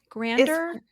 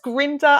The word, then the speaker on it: Grinder: Grander? I think it's Grinder. I can't remember how he pronounced it. We say spelled Grinder. Like grind. Okay, Michael Grinder.